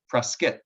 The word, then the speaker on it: Prescott: in prescott arizona yesterday spelled prescott but they pronounced it press skit like like the biscuit